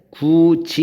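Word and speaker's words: 굳이: 그 다음에 얘는 발음할 때 구지 이렇게 변한단 말이에요. 그래서 얘는 뭐 때문에 바뀌었냐면 받침 여기 디귿이 여기 왔던 디귿이 이로 시작하는 모음하고 결합됐을 때 변하는 거예요.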